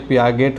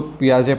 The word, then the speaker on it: Piaget: अगर अब हम लोग अपने इंडियन लैंग्वेज में इसको पढ़ने का प्रयास करेंगे तो ये पियागेट हो जाएगा, लेकिन इसको पियाजे पढ़ा जाता है।